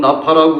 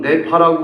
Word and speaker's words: Napa: 발음을 하느냐고 좀 물어봤어요 어떤 사람은 나 파라고 그러고 어떤 사람은 내 파라고 그러는데 뭐 미국 사람들은네 파라고 부르는 거 같다 그러고 한국 사람들은 나 파라고 부르는 것 같다 저 한국 사람이라 나파가죽